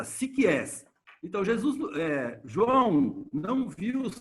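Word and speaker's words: ψυχάς: Essa palavra que vocês estão vendo em vermelho aí, complexa para mim também, é pronunciada psikies.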